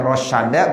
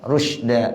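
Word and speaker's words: رُشْدًا: Boleh bacanya rosyada, boleh bacanya apa? Rusda. Tapi kita bacanya apa? Rusda.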